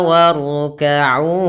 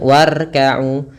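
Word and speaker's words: واركعوا: Huruf ro di sini, kita membacanya dengan bunyi yang tebal. Jangan ucapkan warkau, atau jangan membuat kesalahan yang sering terjadi dalam pengucapan ro, yaitu terlalu banyak takrir. Takrir adalah pengulangan. Warkau, warkau, ini salah. Tapi itu hanya perlu dilakukan sekali untuk pengulangan, warkau. Kemudian ro itu tebal, warkau.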